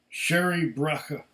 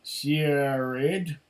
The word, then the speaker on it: Searaidh Braiche: said it all already this is the sherry bracha not to be pronounced sierra red see that like i